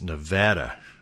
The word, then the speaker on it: Nevada: in the Iowa caucuses it's Nevada and you want it's like aunt not aunt so anyway we are headed to Nevada to work for mayor